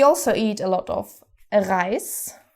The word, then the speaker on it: Reis: We also eat a lot of Reis. In English, rice. German, Reis, very similar, only the pronunciation varies and is more German.